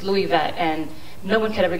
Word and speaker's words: Luivette: years ago i hated my first name it's louis vet and no one could ever get it right